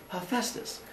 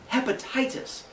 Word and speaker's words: Hephaestus: So when you look at it, his name is not Hephaestus, it is Hephaestus. Oftentimes you'll see his name spelled with an F in there. H-E-F-A-E. Sometimes they'll make it even easier and just spell it H-E-F-U-S-T-U-S. Hephaestus. And so as long as it comes along the same lines, it's the same thing. His name definitely is not hepatitis.